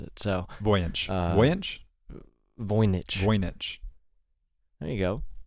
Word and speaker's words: Voynich: We're not sponsored by the Voyance manuscript. Well, and we definitely aren't because you can't even pronounce it. So Voynich.